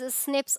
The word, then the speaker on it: SNP: Nine scientists have identified about 1.4 million locations where single base DNA differences SNP single nucleotide polymorphism pronounced as SNPs occurs in human.